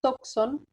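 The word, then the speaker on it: τόξον: Y aquí también estamos con el mismo caso, otra palabra paroxítona, toxon, porque tiene acento agudo en la penúltima sílaba, y fíjense cómo se mantiene el acento en el mismo lugar en toda la declinación, ¿sí?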